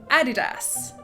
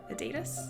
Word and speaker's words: Adidas: to talk about is Adidas... aDIDas... ADidas...? I know that Americans say aDIDas but I've always said ADidas, everyone I know says ADidas, so I'm gonna stick with ADidas for this video I once heard on